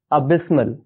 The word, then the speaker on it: abysmal: इसे प्रोनाउंस किया जाता है अबिस्मल।